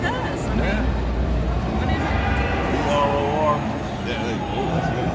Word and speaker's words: Bror: Bror. Bror? B-R, like roar, but with a B. Bror.